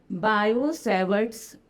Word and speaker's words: Biot-Savart: यह बताया एक scientist bio सेवर्ट T silent है भैया। बायोसेवर्ट्स लॉ जिसे कहते हैं।